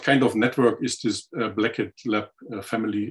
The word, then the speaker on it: Blackett: of network is this Blackhead Lab family, if I pronounce it correctly. Sorry if I say it in an odd way. That's correct. Thank you for the lovely introduction. So yes, the Blackett Lab family, the name